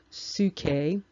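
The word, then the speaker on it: ψυχή: psychology mentioned in scripture that root and it's pronounced suke and it basically just means breath and the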